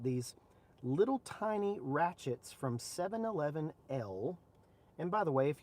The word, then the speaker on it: 711L: I even checked with the rep from 711L who sent me these, and he says that is exactly how you say it. Let me see if I can get it here. 711L.